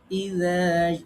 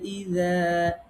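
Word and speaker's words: إذا: রাল নরমভাবে পড়তে হবে আর ঝা শক্তভাবে পড়তে হবে। রাল আর ঝা কাছাকাছি উচ্চারণ। তো একটু মনে রাখতে হবে রাল সবসময় আমরা নরম পড়ব। ইযা জাআ, এই যে ইযা, রাল নরম হবে। এটাকে আবার ইযা এরকম পড়া যাবে না। ঝা শক্ত, রাল নরম।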